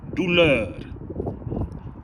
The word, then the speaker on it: douleur: Douleur. Douleur. Douleur. D-O-U-L-O-E-R. Douleur. Douleur. That sound we don't really have in English, sorry. That's the best I can do phonetically.